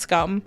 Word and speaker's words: Skam: I mean, it's spelt like scam, but I think it's pronounced scum.